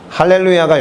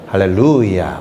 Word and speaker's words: 할렐루야: 그렇게 외치자아요 따라한 거예요 할렐루야가 영어니까 원래는 할렐루야 뭐 이렇게 외쳐야 될 거야요 마 발음 기호상 강세가 거기에 있으니까 근데 그 형은 할렐루야 이렇게 해서 야에서 쫙쫙 뻗는게 너무 멋있었어요 그래서 그건 막 따라했습니다